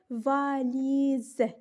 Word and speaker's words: valises: ce la lettre où s vient entre deux voyelles elle se prononce z exemple valises si vous remarquez de